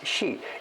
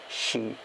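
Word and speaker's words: 四: One of the ways to pronounce 4 is shi. Ichi, ni, san, shi, go, roku. And shi is another pronunciation for the word death, to die.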